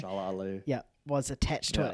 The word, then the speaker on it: Shalla-Bal: Shalla-Bal.